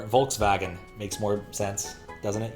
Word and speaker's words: Volkswagen: we go foreign crab V is pronounced like w it's mind wagon equals car Volkswagen makes more sense doesn't